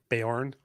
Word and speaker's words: Beorn: Is that how you pronounce it? Beorn? Beorn.